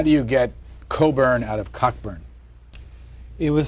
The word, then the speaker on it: Cockburn: but uh but all coburns carry this Mission through life is your name is spelled cockburn but you pronounce it Coburn um and there are